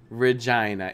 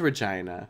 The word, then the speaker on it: Regina: do I love poutine Regina it is Regina it just sounds cuz it rhymes with vagina you know but yeah